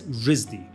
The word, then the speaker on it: RISD: It's Rhode Island School of Design, or RISD, pronounced as RISD.